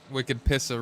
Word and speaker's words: Wicked Pissah: All right, so in New England, we have a saying. It's called "Wicked Pissah." So that's how you say it.